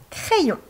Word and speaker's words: crayon: Le mot en haut se prononce crayon. Dans crayon, le Y a deux effets. Il se colle au A pour faire le son E comme un I, mais on entend également après le son I pour faire ion.